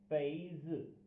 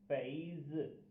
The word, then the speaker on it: 杯子: आज का हमारा चाइनीज़ जो करेक्टर है वो है पैज़। पैज़। पैज़। इसकी आवाज़ और प्रोनाउंसिएशन को इस तरह लिखा जाता है, या इसके पिनियन ये हैं पैज़।